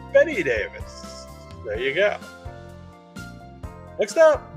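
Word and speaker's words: Bette Davis: Betty Davis Betty Davis spelled like bet Davis but pronounced Betty Davis there you go next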